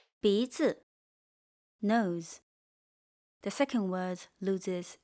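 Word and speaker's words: 鼻子: The second word loses its original tone, fu, and become neutral tone. bízi Nose.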